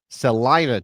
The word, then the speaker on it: Celina: Celina, Texas. It's Celina, everything. Texas. Is everything the opposite pronunciation? You're talking, giving me crap about Spokane, Yeah, but it's now not we got Spokane, and it's not Celina, it's Celina.